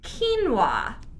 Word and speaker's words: quinoa: Quinoa. Yeah, Spelled quinoa. Quinoa. So spelled quinoa is pronounced quinoa.